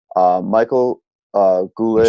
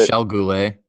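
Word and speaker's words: Michel Goulet: Chris Chelios, Jim Cummins, Tony Esposito, Doug Gilmore, Michael Goulet. Michelle Goulet.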